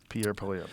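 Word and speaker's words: Pierre Poilievre: Pierre Polyev.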